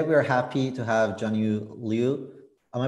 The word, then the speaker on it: Junyu Liu: introducing so today we are happy to have jnu Leu am I pronouncing correctly actually yes yes it's it's perfect